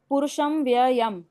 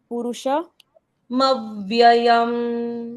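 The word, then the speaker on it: पुरुषमव्ययम्: Yes ma'am ma'am ये जो word है पुरुष पुरुषम व्ययम इसको हमने ब्रेक कैसे किया था?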